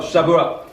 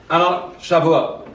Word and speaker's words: Shavuot: What does this have to do with, how do you pronounce that? Shabbat? Oh, Shavuot. Shavuot.